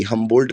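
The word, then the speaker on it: Humboldt: और स्पेलिंग मैं बता दे रहा हूं। एच यू एम बी ओ एल डी टी। हमंबोल्ड current. हमंबोल्ड current. हमंबोल्ड current.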